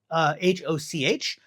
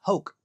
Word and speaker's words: Hoch: I thought it was Hoch because it's Hoch, but it's pronounced Hoke.